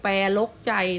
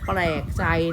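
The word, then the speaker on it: แปลกใจ: เรียน ค้า คำ เนี้ย นัก เรียน ไม่ อ่าน ว่า นก กระจอก แปล รก ใจ นะ ให้ อ่าน ว่า นก กระจอก แปลก ใจ นะ คะ เนี่ย คือ คำ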